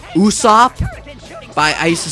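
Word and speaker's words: Usopp: and I read his name cuz it's it's pronounced Uso by I used to say usop like uh usop from U from you know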